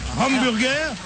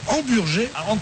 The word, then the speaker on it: Hamburger: Je dois vous dire que ce monsieur ne s'appelle pas Hamburger, qui est une prononciation américaine. Il s'appelle Hamburger, qui est un nom extrêmement alsacien et qui est le vrai nom de Michel Berger.